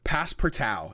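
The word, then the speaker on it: Passpartout: time the second one pass perau and it's spelled like pass part out all one word and then there's two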